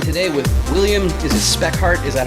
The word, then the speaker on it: Spekhardt: i'm joined today with william this is spec heart is that how you uh pronounce that yes that's true all right awesome